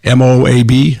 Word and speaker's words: Moab: This is an audio of the Moab, is that right? M-O-A-B? Yeah, Moab. I pronounce Utah Moab.